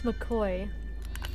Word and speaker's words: McCoy: My name is McCoy. McCoy, like McDonald's, but koi fish. But spelled like koi, like being koi.